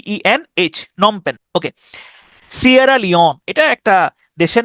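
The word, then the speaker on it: Phnom Penh: উচ্চারণটা হচ্ছে নমপেন। যেটা হচ্ছে কম্বোডিয়ার রাজধানী। কিন্তু বানটা খেয়াল করেন পি এইচ পি এইচ এনও এম নম পেন এইচ নম এবং পেন উচ্চারণ হচ্ছে এইটুকুর কিন্তু বাড়তি আগে পরে অংশ আছে পিএইচ হচ্ছে একটা অংশ এবং শেষে এইচ হচ্ছে আরেকটা অংশ তাহলে নমপেন এটা হচ্ছে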